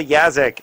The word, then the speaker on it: Yaszek: Is that's pronounced Yaszek?